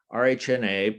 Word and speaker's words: RHNA: RHNA, pronounced RHNA, stands for Regional Housing Needs Assessment.